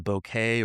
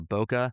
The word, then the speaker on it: bokeh: The background separation, the the bouquet or bokeh, however you want to pronounce that, B O Kh, is the quality of that blur.